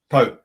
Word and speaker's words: Pau: And by the way, is it Po or Po? Po. Po. It's not pow like bow or the it's a French pronunciation, not a Chinese pronunciation.